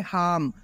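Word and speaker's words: harm: word use होता है हाम यह जो हाम है इसमें आर साइलेंट है आपको आर नहीं बोलना है आपको इस तरीके से बोलना है हाम फॉर एग्जांपल दे हैव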